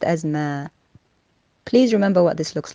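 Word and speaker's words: ما: Is the word that looks like a circle, linked to a dash, linked to a vertical line, and is pronounced as ma.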